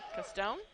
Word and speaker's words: Caston: Joshua Caston castone sorry castone yeah I think so our pronunciation says castone like Disney character Gaston so so it might